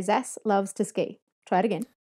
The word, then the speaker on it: Zaslavsky: When I was teaching, I would just say Zas loves to ski. Try it again. Zas loves to ski.